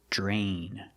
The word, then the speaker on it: drain: Pronunciation, we see DR together, it makes the j sound, like jump and juice, j. Plus the R, drain.